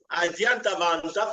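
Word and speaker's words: आद्यन्तवन्तः: Adyantavantaha. So it's supposed to be pronounced together because of the rules in Sanskrit.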